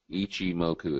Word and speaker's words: Ichimoku: h m o KU ichim moku is how you pronounce it um John I'll get